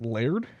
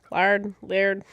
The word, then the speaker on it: Liard: Is it Fort Laird? Laird? I don't know. Laird. It's spelled like liar, but with D at the end.